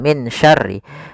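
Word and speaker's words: مِن شَرِّ: Jangan dibaca dengan jelas, karena kalau jelas suara nunnya kita namakan izhar. Kalau hilang misalnya wa min syarri, itu juga salah, karena dia termasuk idgham, memasukkannya. Sedangkan huruf nun ketemu dengan huruf shin adalah bacaan ikhfa, yaitu disamarkan nunnya kepada huruf shin.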